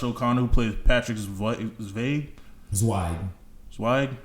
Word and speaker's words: Zweig: Zweig. I think it's like a German name, so they pronounce the W like a V, but that's neither here nor there.